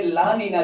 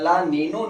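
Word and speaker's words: La Niña: यह गर्म जलधारा, इसे ला नीना जलधारा के नाम से जाना जाता है। ला नीनो नहीं है, ला नीना है।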